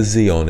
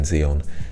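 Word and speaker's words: Xeon: do you spell that that's with an X so like the Zeon processors I think are like that uh and master Zeon 101 or something like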